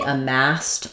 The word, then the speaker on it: amassed: So, they amassed a lot of wealth. Um, stressed is on the mass here.